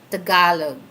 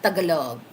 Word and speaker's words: Tagalog: Cuz I know my language is we have different different language here in the Philippines but our national language is Tagalog not Tagalog.